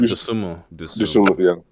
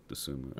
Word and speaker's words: Dosunmu: Ayo Dosunmu. Dosunmu.